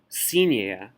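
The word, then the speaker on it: синяя: But in Russian, an unstressed ya is pronounced more like y. Think of the word language. Yizik. We don't say yazik because the stress is on y. Yizik. Y. Sinia. Sinia.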